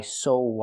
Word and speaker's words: saw: The word is pronounced saw. Use the aw sound like on and off. Like call. Oh. It's back here. Oh, I saw. Not I saw Alice. We don't pronounce the W. There's no w sound in it.